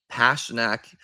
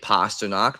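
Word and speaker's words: Pastrňák: I feel like Pasternak is like how, but I think I'm definitely wrong. So I'm going to change my pronunciation going forward to David Pasternak, because that's how most people, I think, say it besides me.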